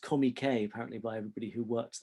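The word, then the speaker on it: Comique: for fatty arbuckle's own company spelt comic or pronounced comey k apparently by everybody who works there and in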